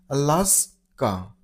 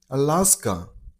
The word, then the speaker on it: Alaska: Stress on the second syllable. I mean on last sound. Alaska. Alaska.